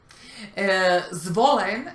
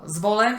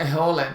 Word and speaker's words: Zvolen: Zvolen es una ciudad en Eslovaquia y había un cubano que trataba de decir Zvolen y decía Eholen y no le entendían. Y se enojaba. Sí, no le entendían porque en el español no existe el fonema Z.